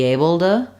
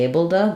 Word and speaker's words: able to: abl to um the the T becomes more of a flap Bea to or or Bea um be this one to me sounds um less educated it's missing the D or the T sound so I like either be abl to or be abled to that's what I tend towards be it sounds a little